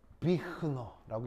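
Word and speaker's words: Büchner: 그래서 보통 영재고 과학고는 외국어가 제2외국어가 일어여서 사실은 독어 볼 일이 좀 없긴 하겠지만 여기에 있는 이 이름은 독일어 이름입니다. 그래서 이제 비흐너라고 읽는 건데 그래서 비흐너 퍼넬 그래서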